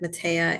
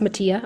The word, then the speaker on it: Matea: So her name is pronounced Mattia. I also read it as Matea the first time, but I want to correct that for her.